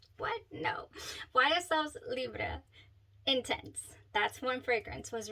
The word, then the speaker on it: Libre: go check it out if you'd like the pronunciations are Stellar so this is YSL Libra that is how she was saying it so